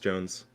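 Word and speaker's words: Jonze: spike jones or spike john's i'd just say jones it's jones is it it's i look i looked up something it said it's pronounced jones okay yeah i don't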